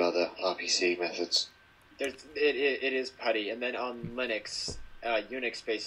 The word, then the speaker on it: PuTTY: For years, I called it PuTTY because it's spelled like putty. And I guess you could say it's PuTTY, but it's talking about the command put, so it's PuTTY.